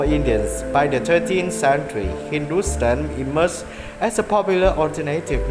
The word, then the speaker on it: Hindustan: Thapa states that the word Hindu is found as Hepta-Hindu in Avesta, African to Rigvedic Sapta Sindhu, while HNTSTN, pronounced Hindustan, is found in Sasanian inscription from the 3rd century CE, both of which refer to the parts of northwestern South Asia.